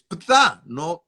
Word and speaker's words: Ptah: Es Ptah, no Ta, es Ptah.